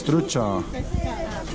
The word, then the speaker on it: trucha: It's trucha. Oh, that's not trucha. That's trucha.